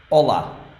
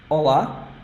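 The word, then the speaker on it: Olá: you write it like Ola it has two syllables first one is O second one is LA and this one is the strong syllable so it's the one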